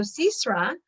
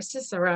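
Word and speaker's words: Sisera: army and escaped so cesaro cesar or cicero i guess in english i'm pronouncing it the hebrew way the canaanite army commander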